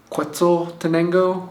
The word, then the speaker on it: Quetzaltenango: So I'm in Quetzaltenango, I think is how you say it.